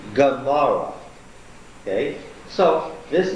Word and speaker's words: Gomorrah: In that name, this is being pronounced hard as a what? Not as a glottal stop, but as a G. Gomorrah.